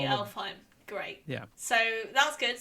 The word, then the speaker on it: Alfheim: It's spelled Alfheim with an A. But it's actually Elfheim.